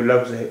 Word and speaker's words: les: plural के लिए जो लज इस्तेमाल होता है व ले एल ई एस लिखते हैं लेकिन इसे प्रोनाउंस करते हैं ले ले एल इ ल